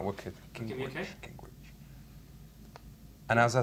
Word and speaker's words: Gingrich: Gingrich. Gingrich. Gingrich. All right, wicked. Gingrich. Okay. Gingrich.